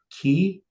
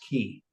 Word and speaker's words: quay: So K or key or K or Quay. But originally it was pronounced key.